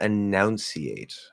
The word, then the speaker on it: enunciate: So there's no O. Announce has OU. That's ow. But enunciate is it's just like pronounce OU, but pronunciate, or we say pronunciation, is just an oo with instead of ow.